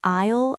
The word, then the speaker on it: aisle: You pronounce it just like the word isle, as in I'll go there. Islele. Okay. So, if I'm looking for the eggs, I should ask which aisle are the eggs in?